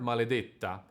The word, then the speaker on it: Maledetta: the second anchor point The word "Maledetta" has a stressed E and a double T in the same syllable The double T takes